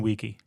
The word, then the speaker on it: vici: So, yeah, so the hard C is the way Latin is spoken. If you see a hard C or if you see a C, it's not an S sound, it's a C sound.